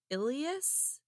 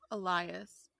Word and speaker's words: Elias: was and I think it's pronounced ilas e l i a Elias elas Elias Frisk right e l i a s yeah okay yeah Elias yeah that makes more sense than ilas um Elias was an